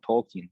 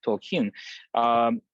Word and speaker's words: Tolkien: Tolkien, the writer of The Lord of the Rings, and he actually the stress is on the final syllable, so it's actually not Tolkien, but Tolkien.